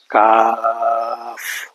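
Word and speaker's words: قاف: কাপ হলো ভুল, কয়েকবার কাব কাপ পড়তাম আমরা, কাপ ভুল। এটা পড়বো কাফ, শেষে ফয়ের উচ্চারণ হবে।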